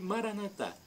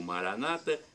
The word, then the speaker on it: Maranata: E Maranatá, como dizemos nós católicos, ou Maranata, como dizem os evangélicos ou protestantes. Não importa a pronúncia, vem do dialeto de